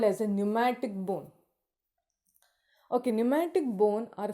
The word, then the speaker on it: pneumatic: So these are the example for pneumatic. P is silent there. They are called pneumatic bone.